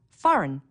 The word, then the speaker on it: foreign: notice the silent B foreign a g that you don't hear Wednesday don't forget the